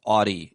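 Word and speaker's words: Audie: Audi or Audi? I don't know why I'm saying Audi. That's really insulting. Audi is how it's pronounced.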